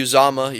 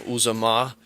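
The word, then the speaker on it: Uzomah: um and um cj uzama yes i finally uh pronounced it right i was saying uzoma uzama uh is uh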